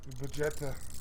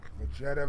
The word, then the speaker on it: Vegeta: Vegeta.